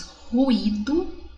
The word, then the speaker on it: ruído: Então, ruído, tanto que até se separa, é um hiato, ó, ruído.